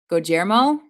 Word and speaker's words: Guillermo: All right, it's pronounced Guillermo. Wait. Oh, so there's no L.